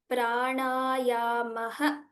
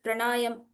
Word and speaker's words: प्राणायामः: So this word is pranayamaha. The nakara should be heard properly. We may tend to be influenced by other pronunciations like pranayam or pranayam. So it is pranayamaha.